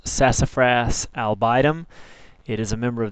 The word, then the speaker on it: Sassafras albidum: sassafras the scientific name is pronounced sassafras albidum it is a member of the lauraca family